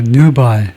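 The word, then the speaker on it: nubile: 그래서 뉴바일 뉴바일 뉴바일이라고 그러네요.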